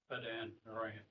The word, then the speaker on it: Padan Aram: You had a little problem there pronouncing the Pat in there around? Padan Aram.